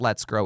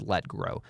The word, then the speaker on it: Let Grow: I said it wrong it's not let's grow it's let grow let grow to work